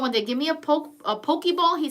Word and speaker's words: poke: to pronounce it okay it's spelled Pokey but it's poke at least what the Chinese guy told me okay it